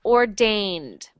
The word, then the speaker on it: ordained: That is uh another verb and it is pronounced ordained. Ordained. Good. When we see this sound like ai, it is normally pronounced like a.